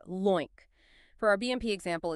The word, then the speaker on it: LOINC: We pronounce that LOINC.